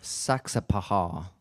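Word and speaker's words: Saxapahaw: hall river ball roman one more time the pronunciation of that town saksa paha and then saturday they're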